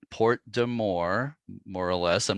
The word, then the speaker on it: Porte des Morts: I didn't say that quite right. But Porte de More, this name of the strait. And I think that may be approximately how local people pronounce it.